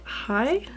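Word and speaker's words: Hai: Then it's the shade High, and it's spelled H-A-I.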